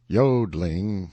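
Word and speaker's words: jodling: tiralese warbling the yodeling pronounced yodling emphasis on the o continued and was very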